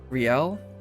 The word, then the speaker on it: Riel: Wait, how do you say it's Riel?